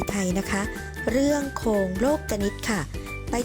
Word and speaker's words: โลกนิติ: กัน เลย ค่ะ โครง โลกนิติ อ่าน ว่า โครง โลกนิติ คำ นี้ นะ คะ นัก เรียน อาจ จะ